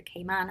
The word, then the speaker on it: Cayman: We shall start with an introduction to the Cayman Islands as a case study. Indeed, it is pronounced Cayman.